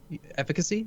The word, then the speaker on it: efficacy: Efficacy is how you pronounce it. Is it an A or an I? It's pronounced efficacy.